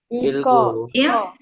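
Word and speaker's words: 읽고: Ilgo ilgo. Jadi dibacanya il ilgo.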